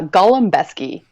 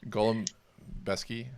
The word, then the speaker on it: Golembiewski: your last name uh Gollum besy is the way we have Americanized the pronunciation of it Golem besy is that it yes